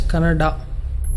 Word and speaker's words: Kannada: People from North India should understand that it is pronounced as Kannada.